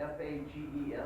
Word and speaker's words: Fages: They spell it F-A-G-E-S.